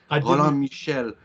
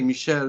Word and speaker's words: Michel: yeah I've only it's a role Michelle Trombly Michelle Michelle is a very common name for men